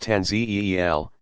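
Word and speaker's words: tanzīl: Tanzil, pronounced Tanzeel, to humankind through Muhammad.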